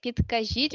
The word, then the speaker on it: Підкажіть: And we say, підкажіть, будь ласка, як Got дійти о доїхати до, and we say where.